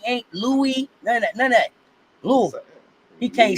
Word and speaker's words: Louisville: He won't even say Louisville because he'll say Louisville, and I tell him that ain't how you say it.